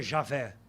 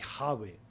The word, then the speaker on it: Yahweh: O mais próximo seria Javé, de Yahweh. Mas não dá para pronunciar. Em aportuguesado ficaria Jeová.